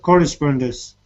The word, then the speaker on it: correspondence: there um sorry can you repeat correspondence cor correspondence correspondence yeah correspondence yes correspondence yeah correspondence it's